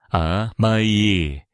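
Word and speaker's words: 甘え: 세 번째 기둥이자 일본 양육 철학에서 아마도 가장 오해받는 개념은 아메이의 발음 아마이입니다.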